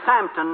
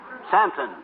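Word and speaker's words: Southampton: you know and then a train to samton maybe uh uh samton s o u t h h a m p t o n santon yes and then a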